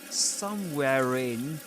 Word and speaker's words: somewhere in: He was somewhere in his somewhere in somewhere in this is an instance of linking right because